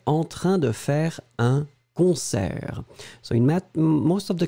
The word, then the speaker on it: concert: So whereas in French, in French, we will open the eh, concert. It's really like a eh, eh, eh.